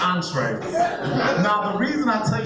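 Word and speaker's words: entrée: It's pronounced entree.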